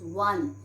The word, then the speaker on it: one: example we can take we never pronounce on what do we pronounce we pronounce one and one is starting with w o is starting with